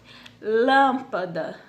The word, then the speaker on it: lâmpada: certo então vamos lá lâmpada então vocês podem perceber o que o lan ele sobressai do restante da palavra então era uma proparoxítona não a matemática então